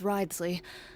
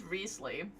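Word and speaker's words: Wriothesley: I lost a bet with Ridesley, and now I have to buy him something. Ridesley? Riesly? Leslie. I can't anymore. The actual real pronunciation of the name is Riesly.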